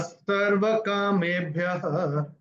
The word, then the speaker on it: सर्वकामेभ्यः: विसर्ग के नियम में हमने आपको क्या बताया, पहले और तीसरे चरण की समाप्ति पे अगर ओ आता है तो ओ का उच्चारण विसर्ग होगा।